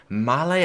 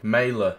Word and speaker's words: Maehle: at least let's see how do we pronounce his name mailer all right mayla okay there we go mailer 82 rated row